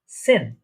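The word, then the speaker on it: zehn: এই যে দেখছেন এখানে জেড, জেডটা আমরা আগেই বলেছি এটা স বা সি এর মতো উচ্চারণ হয় বা এস এর মতো উচ্চারণ হয়, এটার প্রোনাউন্সিয়েশনটা অনেকটা। ঠিক আছে, তাহলে এটা উচ্চারণ কি হচ্ছে, প্রোনাউন্সিয়েশনটা সেন।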